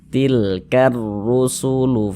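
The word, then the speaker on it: تلك الرسل: Cara membacanya itu dari ka langsung masuk ke huruf ro begitu. Tilkar rusulu faddalna begitu.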